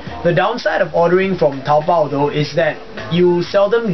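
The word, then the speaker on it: 淘宝: If in Chinese or in Han, pinyin, a P would be pronounced as Pao rather than Bao. So it's Taobao.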